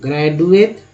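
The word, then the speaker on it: graduate: इसका उच्चारण ये होता है ग्रेजुएट, ड लगा दिया, ग्रेजुएट द लगा दिया।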